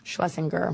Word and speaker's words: Shlesinger: Is it Schlesinger or Schlesinger? Schlesinger. Okay, I've actually been saying it wrong.